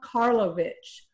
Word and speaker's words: Karlovich: is working on it and i'm going to pronounce his name correctly i'm i'm looking down at rob karlovich rob karlovich hello and welcome and rob is a mechanical